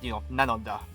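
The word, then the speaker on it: なのだ: yep or whatever, right, the Japanese way of sounding it or pronouncing it rather is meant to make it, nanoda, right?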